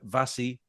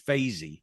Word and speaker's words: Vasey: I mean, people talk to me, Vazzy. No, it's Vasey. It's Vasey.